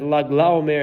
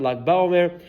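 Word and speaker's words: Lag La'Omer: of Lag La Omer, we should stick to our minhag and pronounce it as Lag La Omer and not Lag Ba Omer.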